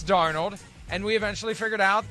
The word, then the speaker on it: Darnold: draft even though you continuously pronounced his name darno do you remember those days yes yes you eventually figured out it's darnold and we eventually figured